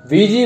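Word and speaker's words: Ouija: नमस्कार दोस्तों, वीजी board जिनकी स्पेलिंग होती है OUIGA लेकिन प्रोनाउंस इन्हें वीजी किया जाता है।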